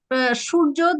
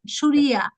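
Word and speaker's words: सूर्य: Uh shujo that is Bengali pronunciation surya. Surya. So we pronounce as it okay or Surya I should pronounce.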